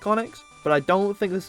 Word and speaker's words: Onix: It rhymes with Sonics. It's the top G himself. It's the big dog Onix at level 44 with the move Sandstorm, Bind, Bide, don't get confused, and Rock Slide.